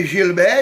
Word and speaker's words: Gilbert: yeah so Gilbert and you prefer Gilbert not Gilbert no no my Gilbert is the right way in French yes that's the right pronunciation yeah and uh another